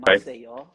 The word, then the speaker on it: Maceió: mission, which I didn't know Say how to that again for pronounce when I me. received it, but I know now. So I Okay. served in Maceió.